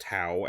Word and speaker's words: T'au: So, the Tau Empire, pronounced Tau as in wow, also spelled Tau Empire